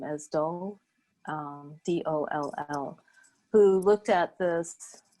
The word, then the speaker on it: Doll: Kemi Dahl. Her name is spelled K-E-M-I at the University of Washington. K-E-M-I, the last name is Doll, D-O-L-L, who looked at this, who did a